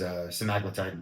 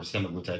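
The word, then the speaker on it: semaglutide: So, Zmpic um the actual drug name is simaglletide or semablatide depending on how you want to pronounce it.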